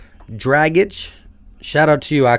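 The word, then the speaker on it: Dragić: buckets max johnson said gordon's last name is pronounced like draggage shout out to you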